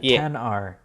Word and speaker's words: XR: it the XR yeah 10r obviously 10 R okay you pronounce it 10 yes so the the